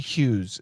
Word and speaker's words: Hughes: Miki Hughes Howard Hughes Hughes Howard Hughes is the pronunciation Hungary is in the